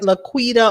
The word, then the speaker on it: Laquita: watch me get it it's pronounced like laquita like on martin laura that's sweet i